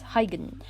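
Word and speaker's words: Huygens: let's look at the i've googled how to pronounce it it's hyden okay so let's look at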